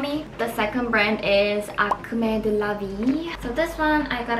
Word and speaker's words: Acme de la Vie: but I always was curious how I should pronounce this brand. But it's Acme de la Vie.